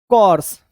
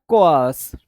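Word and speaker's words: coarse: तो को आर्स बोलते हैं इसको, को आर्स, ठीक है। इस तरीके से इसका प्रोनाउंसिएशन होता है, कोआस, ठीक है, को आस, ऐसे इसका प्रोनाउंसिएशन होता है, कोर्स नहीं होता, कोआस।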